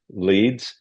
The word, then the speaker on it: Ledes: I'm Gabriel Noah Brahm, and my guest today is director Richard C. Leeds.